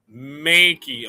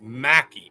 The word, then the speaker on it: Mhakey: Of course, it's not makey. Of course, it's Mackie.